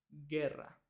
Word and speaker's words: guerra: i Okay Por qué en la combinación G u e y G u i la u es muda es silenciosa Entonces cuando tenemos G u e pronunciamos g por ejemplo la palabra guerra lo mismo con gu